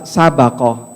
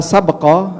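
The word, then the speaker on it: سبق: huruf Sin ba qof bnya ini kalau dibaca dengan sukun la sabqo artinya tidak boleh ada perlombaan tapi kalau bnya di fathah bacanya la sabaq artinya tidak boleh Ada taruhan kecuali untuk tiga jenis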